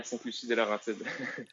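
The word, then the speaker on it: Sainte-Lucie-des-Laurentides: Lucie, Quebec, or how do you pronounce that? Yeah, Saint-Lucie de Laurentides.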